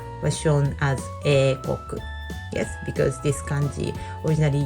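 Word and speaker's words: 英国: We also use this kanji, eikoku. I hope you can say it. Yes, eikoku. Eikoku, we pronounce it, and then so you can see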